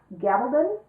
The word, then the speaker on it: Gabaldon: series this book and excuse me if I mispronounced her name the Outlander series is written by Diana Gabaldon is I believe how she pronounces it and I read them